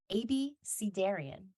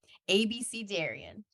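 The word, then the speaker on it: abecedarian: it spells pronunciation is a b c like the alphabet dare like Truth or Dare Ian like uncleian ABC Darian definition a beginner someone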